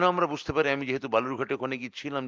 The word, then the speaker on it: বালুরঘাট: সবথেকে বেশি ভোট পড়েছে বালুরঘাটে 72 শতাংশ সেই বালুরঘাট যাকে বিজেপি সাধারণত বেলুরঘাট বা বালুঘাট ইত্যাদি ভুল উচ্চারণে ডাকতে যাকে সিদ্ধস্ত এবং ওটাই ওই উচ্চারণটাকেই খুব সংগত বলে মনে করে বালুরঘাট আজকে উত্তর দিয়ে